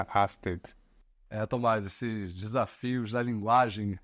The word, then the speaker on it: Ørsted: No próprio YouTube deles, eles têm um vídeo que ensina as pessoas que tiverem interesse qual que é a pronúncia correta do nome da empresa em dinamarquês. Então mostra aí que já o pedido de desculpas, que a gente não está sozinho e que também tem ali a pronúncia perfeita em dinamarquês, a Asted.